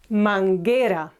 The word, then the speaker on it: manguera: Here we have U between G and E, or G and E, and we do not pronounce it. It's manguera, not manguera. Okay? So this U and this U are silent.